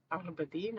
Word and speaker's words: Aberdeen: Aberdeen, apparently you're supposed to say it like that, in the northeast of Scotland, right on the coast.